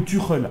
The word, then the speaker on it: Tuchel: seront là à savoir Thomas tchel ou tuel hein pour les ceux qui veulent le prononcer à l'allemande hein la la la Dutch qualitat comme on dit moi personnellement les amis je vais la prononcer le prononcer à la française voilà t hein qu'on on m'a déjà repris plusieurs fois dans mes directs dans mes vidéos donc moi je dis tchel maintenant libre à vous